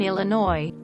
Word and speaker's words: Illinois: correctly drove me batty she also pronounced the s in Illinois someone saying Pacific instead